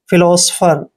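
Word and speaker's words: philosopher: पर स करते हैं पी एच को फ पढ़ना है ई आर को र पढ़ते हैं फिलोसोफर दोस्तों फिलोसोफर का मतलब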